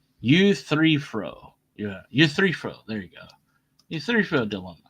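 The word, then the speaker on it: Euthyphro: Yeah, U3-fro.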